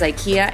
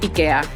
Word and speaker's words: IKEA: Spanish isn't going anywhere and neither is IKEA and EPA. They're here to stay. Oh, and just so we're clear, in Spanish, just like in Swedish, it's pronounced IKEA, not IKEA.